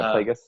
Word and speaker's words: Plagueis: Yeah, Plagueis.